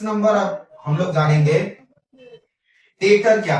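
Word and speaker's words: debtor: Next 6 number अब हम लोग जानेंगे डेटर क्या है। इसे डेटर कहा जाता है, डेटर नहीं कहा जाता। यहां पर डी साइलेंट रहता है।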